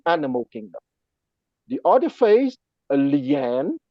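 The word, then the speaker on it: nian: kingdom the other phase lean n i a n pronounced at a third tone is the phase corresponding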